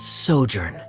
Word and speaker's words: sojourn: Director Zosimos, how do you pronounce this word? Let me see. That's sojourn.